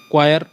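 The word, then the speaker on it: choir: Pronunciation इसकी क्वायर मतलब इसकी वर्ड से बिल्कुल अलग है, क्वायर इसकी प्रोनाउंसिएशन है, तो इसे बोलते हैं क्वायर। स्पेलिंग अलग है और प्रोनाउंसिएशन अलग है।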